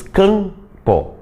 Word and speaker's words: campo: Não, tu diz campo. Tu nem mexe os lábios para pronunciar esse M, porque ele não é fonema. Ele está ali só para nasalizar aquele A ali.